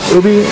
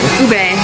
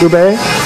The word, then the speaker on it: ube: So you got the, how do you pronounce it? The milk tea and the ubi? Ube. Ube.